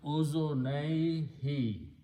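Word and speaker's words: أذنيه: So when you combine them with combination, this noon is not pronounced. It becomes ozonaihi.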